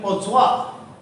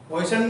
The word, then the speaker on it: Poisson: वो pronunciation पोसवा, पॉइसन नहीं है, फ्रेंच प्रोनाउंसिएशन इज पोसवा।